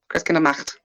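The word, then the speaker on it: Christkindlmarkt: I should roll my R, but I'm bad about rolling R's. Sorry, guys. Christkindlmacht. Yeah. Skip. I mean, you could say marked, really, but they don't pronounce their A's like that. It would be a macht.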